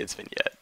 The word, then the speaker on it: vignette: you say vignette and i'm going to hope to get that that's actually how you say it that's how my professor said it even though it's spelled vignette i'm going to say it's been yet so we can pull